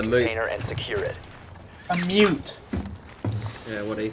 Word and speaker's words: Mute: Yeah, you must have gone into a moot. Proceed to the biohazard container and secure it. A mute.